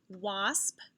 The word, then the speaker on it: wasp: echo these words and listen for a vowel sound that they all have in common okay wasp watch wand wasp watch wand what vowel sound do you hear in these words very good i hear ah sound like a short o sound let's look at these